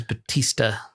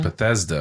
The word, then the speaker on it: Bethesda: the exact same thing I think it's Batista Batista Batista Batista Bethesda Bethesda yeah I said it wrong Bethesda and you said Batista